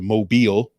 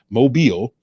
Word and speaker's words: Mobile: the weekend before making my way down to Mobile. Some of you guys got real mad because I kept calling it Mobile.